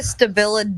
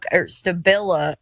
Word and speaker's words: Stabila: did you say a stabil digital level St stabil Stabila do you know how to pronounce words yeah I just yeah Stabila Stabila is the way it's do do you still